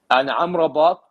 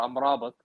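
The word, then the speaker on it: Amad: but I'm telling you andat or Amat actually is how you say it you know in uh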